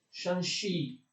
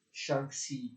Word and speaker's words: Shanxi: della Cina dello Xan, forse si legge Shanxi, va bene, per maggiore facilità lo leggerò Shanxi, d'accordo?